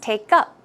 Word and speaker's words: take up: or model building right so the stress should go on the second syllable its take up take up took up took up